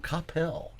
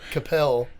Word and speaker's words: Coppell: High school, went to Coppell. You said it right. Coppell. Coppell. What do you normally hear? Well, you hear people say Coppell or Capel. That's all the out of staters.